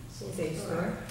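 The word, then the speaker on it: SAFSTOR: Safe store.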